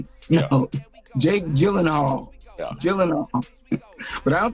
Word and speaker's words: Gyllenhaal: I can pronounce it, but he's in. Jake Giangi. No, Jake Gyllenhaal.